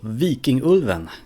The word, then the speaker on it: Vikingulven: movie Viking wolf or V King ulvan if you're gonna pronounce it correctly so this is a